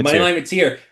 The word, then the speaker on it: Mateer: Moneyline Mateer.